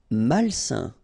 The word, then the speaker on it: malsain: Malsain. A-I-N together, it's a nasal and it's un.